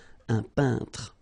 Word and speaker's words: peintre: So remember when you get this E-I-N together here, then you pronounce this un sound. So nasal in your nose, un peintre.